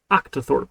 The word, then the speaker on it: octothorpe: prong interesting interesting actus thorpe but how you pronounce it octothorpe octathorp can you hear that octathorp let me turn